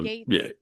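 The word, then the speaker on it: Gaetz: Um, Gates, Matt, is it Gates? Is that how you pronounce his name? The Attorney General. The Attorney General Yeah. that is a lady. Or he was the initial pick, right? Matt Yeah, Gates, G A E yeah.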